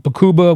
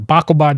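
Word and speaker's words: Baqubah: at a convoy in in in bakuba which was the or bakaba depending on how you want to pronounce it down in dala Province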